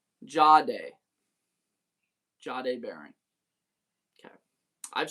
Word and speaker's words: Jahdae: You'd say it like Ja, J-U-H, Day, like D-A-Y. It's Ja. Jahdae.